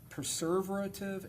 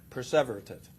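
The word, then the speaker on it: perseverative: And then he committed six preserverative errors. Did I pronounce that right? Perverative.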